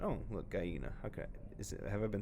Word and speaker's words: gallina: Oh, look, gallina. Okay, have I been saying it? Gallina, not gallina, gallina. Oh, I gotta correct myself there.